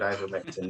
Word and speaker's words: ivermectin: Did I pronounce that correctly? Yes. Well, I think that if I start talking about ivermectin now, that's going to probably go down a different route.